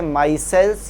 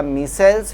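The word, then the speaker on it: micelles: और इन कोलाइड्स को नाम दिया जाता है माइसेल्स या मिसेल्स, जो भी आप प्रोनाउंस करते हैं इन्हें मिसेल्स या माइसेल्स कहते हैं बेटा।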